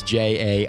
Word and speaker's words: Jai: it not judging it's j ai it's J like it's it's pronounced J like J a Y but it's spelled J